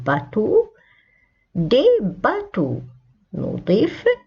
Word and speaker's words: bateau: un bateau اسم ينتهي ب EAU تنطق O un bateau.